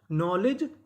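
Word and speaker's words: knowledge: अगर आपको एन से पहले के लिखा मिले तो हमें के का उच्चारण नहीं करना होता, हमें उसके बाद का उच्चारण करना होता है।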